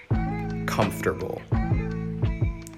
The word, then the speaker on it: comfortable: number two is comfortable comfortable the emphasis is on the comf part that first syllable it means physically or